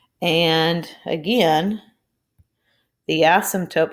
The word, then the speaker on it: asymptote: so therefore your asymptote remember the p is silent as sim tote would be zero all